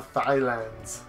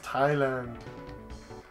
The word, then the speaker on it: Thailand: go to one of the thigh lands even though it's pronounced Thailand this time I hope